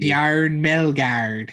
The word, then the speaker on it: Bjarne Melgaard: Some good pronunciation, Brandon. I'm proud of you. Bjarne Melgaard.